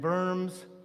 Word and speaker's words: Worms: That's the Rhine River, that line that flows north through Strasbourg and Worms. By the way, the W in German is pronounced B, with the V sound.